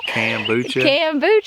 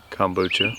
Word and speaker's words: kombucha: them um i make can you say it making bucha cambucho that no that's not